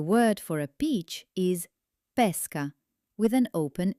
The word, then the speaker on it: pesca: For example, the word for a peach is pesca with an open e, but the word for fishing is pesca with a closed e.